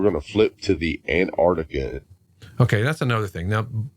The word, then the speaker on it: Antarctica: I'll give anybody that because it is hard to say both of those hard Seas antartic so we all kind of just say Antarctica we leave that first hard sea out but the other thing